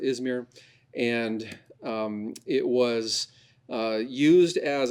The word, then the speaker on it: Izmir: Locally, they pronounce it Izmish for some reason, not sure why, but we would pronounce it Izmir.